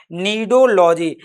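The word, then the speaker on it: cnidology: सी silent रहती है। याद रखिएगा नीडोलॉजी।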